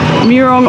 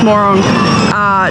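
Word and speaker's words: Mörön: We have finished dinner, and we're at the Murong or Morong. It's actually pronounced Morong.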